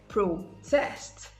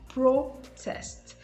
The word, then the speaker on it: protest: side the side processed pro test as against processed now notice that the noun is pro test the first syllable is stressed in the noun but when it comes